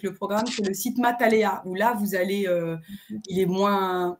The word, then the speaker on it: Matalea: Mais sur le site Matalea ça s'écrit m a th donc math et alea comme aléatoire tout attaché matalea.